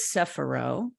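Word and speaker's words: Sephiroth: and first of all you pronounce it different than I learned it but you're probably doing it in the correct original Jewish term but but I learned it as sephiro right the s-e-p-h-i-r-o-t-h right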